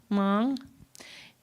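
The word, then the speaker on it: mang: one with the m is it pronounced ming mong the loon kind of overlooking.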